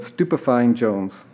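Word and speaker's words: Stupefyin' Jones: Please note that it is very important that you do not pronounce the first part with a G as in stupefying. That's just wrong. And remember, it's a two-part name, not Stupefying or Miss Jones, but Stupefying Jones.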